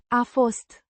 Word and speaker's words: a fost: To be, pronounced. A fost. With a slight emphasis on. Fost.